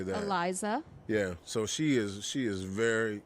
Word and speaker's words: Iliza: Her name is I want to say Iliza. So how do you say that? Eliza.